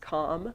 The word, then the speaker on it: comm: on the first line which is usually pronounced comm because it's denoting communication between these two parties.